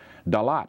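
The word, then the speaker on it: Đà Lạt: Dalat is Da-Lat, it's 2 words.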